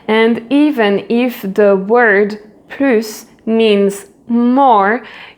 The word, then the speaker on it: plus: And even if the word plus means more, you will not pronounce the final S. So the final S will be silent.